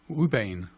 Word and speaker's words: Ouabain: It's spelled as Ouabain. Ubain.